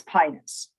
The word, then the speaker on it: Pinus: So normally you would pronounce um uh in in most words, but European speakers want to uh avoid unfortunate homonyms. So everyone when they're talking to English speakers says pinus, not pronouncing it the other way.